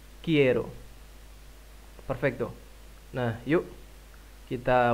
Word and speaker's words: quiero: alfabet bahasa Spanyol Band tapi ini bacanya Quiero banget Quiero Hai perfecto nah Yuk